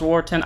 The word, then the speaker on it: Walton: in Blitz mechanic of Walton I know it's pronounced wartin I don't care listen the theme is German from this ride line and I'm allowed to say how I want to I'm gonna call